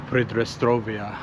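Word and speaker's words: Pridnestrovie: European big cities predia that's basically how you say it in Russian but in English it's transnistria and it might be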